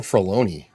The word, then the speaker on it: Filoni: Filoni, I'm sorry. You're probably right. Um, They're the same did- fucking I did want to talk about this a little bit tonight. Funny, his name rhymes with baloney.